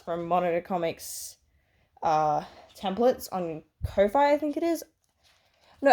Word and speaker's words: Ko-fi: And yeah, these are all printouts from Monitor Comics templates on Ko-Fi, I think it is. No, I think it's Coffee is how you pronounce it.